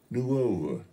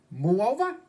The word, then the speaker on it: Nuova: Nuova. Muova? Nuova. That's what I said, Muova. It's Nuova, with an N.